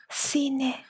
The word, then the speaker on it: cine: When it's pronounced as S, the C is followed by E or E. For example, casa, casa. Casa means house. Cine, cine.